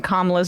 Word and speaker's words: Kamala: panelists had been mispronouncing Kamala's name in a variety of different ways. And they were slowly like saying, hey, it's Kamala. It's not Kamala or whatever they were doing.